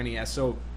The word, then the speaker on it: NES: are periods in between there are no periods in between for NES so you're supposed to say Ness now of course I